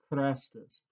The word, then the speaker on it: Chrestus: Okay, so that third letter, which is a long E in Greek, the third letter on the Greek word, it would be an I if it were Christos, but instead it's Christos, not Christos.